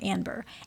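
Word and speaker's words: Anber: My name is Amber with an N. So Amber but with an N. It's not any fancy pronunciation. A N as in Nancy B E R Amber.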